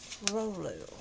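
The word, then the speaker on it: rouleau: it a crystal ball it's spelt r-o-u-l-e-a-u rolu okay i got my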